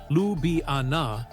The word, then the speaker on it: Ljubljana: Slovenia is the one with the stunning lake bled, the one that's more than 60% forest and the one where Lj Ljubljana, pronounced Lubana, was named European capital of culture.